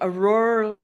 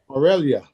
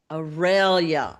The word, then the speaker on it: Aurelia: Aurora. Aurelia. How do you say it again? Aurelia. Aurelia. Okay.